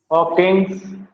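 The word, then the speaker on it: Hodgkin's: हॉकिंग्स disease, क्या बोलेंगे इसको? हॉकिंग्स disease. इसमें डी साइलेंट होता है।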